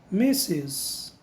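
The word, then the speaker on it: Mrs.: sigla MRS ponto como é que eu vou pronunciar essa sigla que significa Senhora em inglês nós falamos meses e nós temos aqui Uma quarta sigla que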